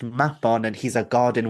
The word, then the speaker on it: Mabon: Because if anything, by telling you that actually Mabon is pronounced Mapon and he's a god